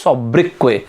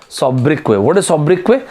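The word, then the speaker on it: sobriquet: nickname s-o-b-r-i-q-u-e-t is it final buddy s-o-b-r-i-q-u-e-t the pronunciation of this word is saw brickway and i really wanted people to remember the spelling of this word saw brickway subbrigh your nickname fine let's move on so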